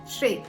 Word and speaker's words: chez: ஷே என்ன ப்ரிப்போசிஷன்னா ஷே அப்படின்னு ஸ்பெல்லிங் பாருங்க, CHEZ. இதை எப்படி ப்ரொனவுன்ஸ் பண்ணுவோம்? ஷே.